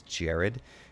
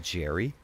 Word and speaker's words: Jared: my wife because i my name gets mispronounced all the time because it's jared and if if you are just telling someone your name really quickly it can sound like jerry right so i get